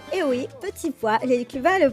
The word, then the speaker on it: petit pois: poivre, sal, du sel, petit poy, et oui, petit pois, les Cubains le prononcent comme ça, petit poy, et j'adore comme ils le prononcent, du colorante, alors, du colorant alimentaire que je ramène d'Espagne.